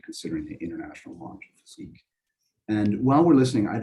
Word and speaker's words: physique: They will pronounce it Physique. Yeah, Physique. Physique, yeah. So Sounds on French.